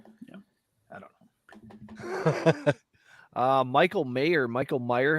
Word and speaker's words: Mayer: Michael Meyer, have we decided how to say his name yet? It's Mayor. Mayer out of Notre Dame.